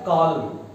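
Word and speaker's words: column: कॉलम कॉलम।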